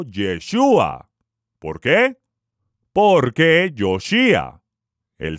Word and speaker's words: Yeshúa: los españoles o por aquellos que pronuncian mal la letra j el todopoderoso envió un mensajero a la tierra con la instrucción Divina de llamarlo yeshua Por qué Porque Yoshi